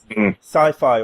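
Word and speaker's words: Syfy: Magicians that's currently on the sci-fi or cify however you choose to pronounce it I go with cify personally uh and it is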